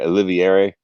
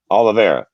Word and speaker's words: Oliveira: over charles uh i i pronounced his pricks last night olivieri oh the bear oliveira yeah yeah jim miller has a [ __